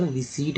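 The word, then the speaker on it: receipt: तो इसीलिए यहाँ रिसिप्ट ना होकर रिसीट बोलें, रिसीट, क्योंकि पी को साइलेंट रखा जाता है तो रिसीट पढ़ेंगे, ठीक है, ना कि रिसिप्ट।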